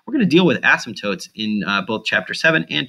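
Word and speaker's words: asymptote: as what's called an ASM toote an ASM ASM toote I'm pronouncing the P but you don't really actually pronounce it it's an ASM toote um an as go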